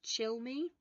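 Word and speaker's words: Cilmi: I think it's pronounced chill me I think it's chill me because otherwise it's gabriella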